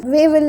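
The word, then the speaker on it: Wavell: arisen in the country viceroy way will wavel is better pronunciation viceroy will establish the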